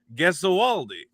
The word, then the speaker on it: Gesualdi: It's actually interesting is that my entire family has been pronouncing it Gesualdi. But my sister looked into the root of the word and she's like, we're all pronouncing it wrong. It should be Gesualdi.